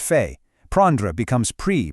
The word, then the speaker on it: fait: Faire turns into fait, pronounced fait.